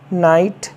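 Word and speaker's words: knight: नी घुटना के एन आई जी एस टी नाइट का मतलब सरदार या योद्धा के एन ओटी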